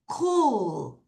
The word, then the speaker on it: cool: 자, 오가 두 개 있으면 길게 우 발음이에요. 자, repeat after me everyone. cool. 다시 cool.